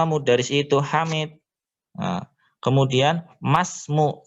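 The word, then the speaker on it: ما اسم: Nah, kemudian masmu, cara bacanya masmu bukan maismu.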